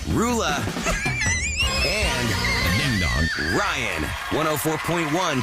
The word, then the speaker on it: Roula: How the heck do you pronounce this woman's name? Roula.